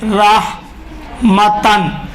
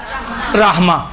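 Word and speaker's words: رحمةً: مثلا دیکھیے رحمتن ہے، رحمتن. رحمتن کو کیا پڑھیں گے؟ رحمہ. یہ ہا تا ہا میں تبدیل ہوگا، یہ والا دو چشمہ ہا میں تبدیل ہوگا.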